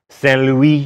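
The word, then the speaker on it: Saint-Louis: a trading post called St Louis Stan Don't make me say it right fine St Louis and at a town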